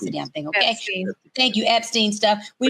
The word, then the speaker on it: Epstein: We knew about this whole possible Einstein stuff. We knew about this whole Einstein, whatever. Say it, Tori. I don't care how you pronounce the damn thing, okay? Epstein.